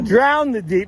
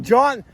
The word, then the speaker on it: Drown the Deep: Say Drown the Deep. Not John.